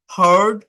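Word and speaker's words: heard: ভার্বের past ফর্মও হ্যাড passed পার্টিসিপলও হ্যাড হেয়ার হারড হারড first ওয়ার্ডটা হচ্ছে হেয়ার মানে শোনা বাট সেকেন্ড এন্ড থার্ড ওয়ার্ডের উচ্চারণ হচ্ছে হেয়ারড না কিন্তু হারড হড হারড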